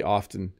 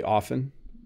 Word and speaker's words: often: part of Canada, we do hit the T a little bit quite often when we're saying it. Like even when I say it quickly, I say often, yeah. So there's no wrong way to say it. You can say often, I often do that, or I often do that. Both are fine in my opinion.